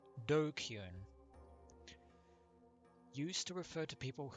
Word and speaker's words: DQN: uh three-letter slang before japanese netslam pronounced dokun used to refer to